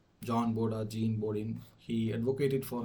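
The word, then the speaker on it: Jean Bodin: American pronunciation which refers it to it as Jean borin whereas the French pronunciation it calls John bod well I'm going to proceed with the British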